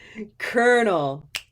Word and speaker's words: colonel: Colonel, colonel, purple shirt, colonel.